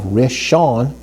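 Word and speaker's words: ראשון: And then when we have rishon, that's spelled with a resh, an aleph, a sheen, and a vav with a holam of it that's making another o type of sound, followed by a final noon, okay?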